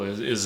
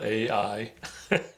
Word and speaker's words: Ai: city is literally spelled Ai and and you call that I some people pronounce a i i pronounce it I I because it's a sort of a diphthong but yeah yeah you